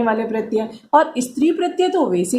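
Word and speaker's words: क्त्वा: 5 में पहला प्रत्यय त्वा प्रत्यय। इसमें क साइलेंट रहता है, लिखने में आता है लेकिन बोलने में इसका प्रयोग नहीं होता, क साइलेंट रहता है, तो इसका उच्चारण हम करते हैं त्वा प्रत्यय।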